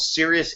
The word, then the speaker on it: Sirius: like for that is a product called serious insights and it's spelled like the stars Sirius CI like the clouds